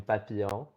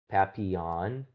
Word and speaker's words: Papillon: Uh hey, I'm Papilion or I guess the English way of pronouncing it would be like Pappion.